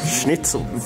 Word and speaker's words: Schnitzel: Oh, schnitzel. It's more attitude, schnitzel.